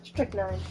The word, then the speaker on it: strychnine: How did you say you pronounce it? Strychnine.